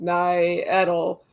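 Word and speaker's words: Ngetal: The reed moon was called Nagetal, pronounced Nai-Edel by the Celts, and sometimes referred to as the elm moon by modern pagans.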